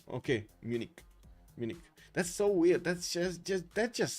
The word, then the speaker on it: Munich: Like that, Justice, like just a hard K at the end when you want to pronounce it in English. Okay, Munich.